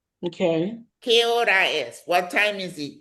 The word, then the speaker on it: hora: The H is always silent.